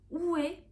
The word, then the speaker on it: 외: La vraie prononciation doit être U, une monophtongue, mais il est acceptable de prononcer comme une diphtongue oué.